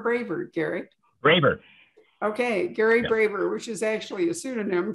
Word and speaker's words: Braver: up with a friend um and is it pronounced braver or braver garrett raver okay gary braver which is actually a pseudonym for an academic